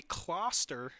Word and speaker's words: Closter: And I've been saying his name wrong. That'll be Closter. Now I have that correct.